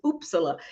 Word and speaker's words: Uppsala: opportunity to study abroad at the University of uppsala in Sweden the way it's spelled and the way it's pronounced I had to I had to look that up but it's oopsala and she may correct me when I get